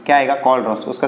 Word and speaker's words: Kohlrausch: अब देखो यहाँ पर टेक्स्ट बुक के अंदर कोलरॉस लॉ बोलते हैं, वो दिया हुआ है।